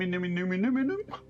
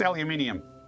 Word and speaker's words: aluminium: aluminum aluminum, however you want to pronounce it. It's aluminium, even though it's spelled aluminum in game, despite Sweden being on the aluminium side of things, I think.